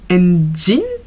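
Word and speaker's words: ENGENE: J'aimerais bien me renseigner beaucoup plus sur Enhypen parce que je suis en train de devenir une engine. Oui, c'est ça, ça se prononce comme ça.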